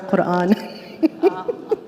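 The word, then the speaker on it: Koran: his last name is spelled k o r a n dror Quran he's not Muslim it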